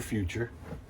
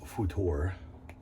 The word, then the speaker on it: Futur: uh makuur futor or future i keep on saying i'm just going to call it the future but it is pronounced futor wow it was great